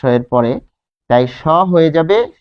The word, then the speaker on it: সহ্য: যেহেতু এখানে জফলা রয়েছে দন্ত স এর পরে, তাই স হয়ে যাবে সো। এরপর দেখুন এই হ এর সাথে জফলা থাকার কারণে বর্গীয় জ আর ঝ, অর্থাৎ এটা।